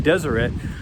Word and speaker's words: Deseret: does yet how do you pronounce it again desert desert desert it used to pronounce the Deseret which actually came from the Book of Mormon